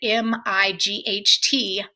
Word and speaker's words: might: you see the word m-i-g-h-t might in print your instinct will probably be to try to pronounce the letters g and h which of course won't